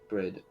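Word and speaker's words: Bríd: like because I save an icon no okay bread uh an Irish version of the name Bridget a famous Irish saint it's pronounced for long e similar to the English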